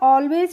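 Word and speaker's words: all: तो A double L को हम पढ़ते हैं ऑल।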